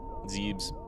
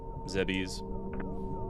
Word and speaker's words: Zebes: Zebes, Zebbies. No one could ever agree on how to pronounce it. I always said Zebus. Or Zebus.